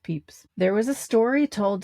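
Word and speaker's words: Pepys: His name is Samuel Peeps, spelled P E P Ys, but it's pronounced Peeps.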